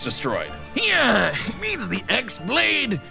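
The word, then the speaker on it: χ-blade: yeah it means the x blade it's just pronounced like keyblade even though it's just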